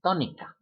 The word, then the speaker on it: tónica: of the lesson, sílaba tónica. Both of those words end in a vowel. It should be sílaba, but it's not. It's sílaba, syllable. It should be tónica, but it's not tónica, it's tónica.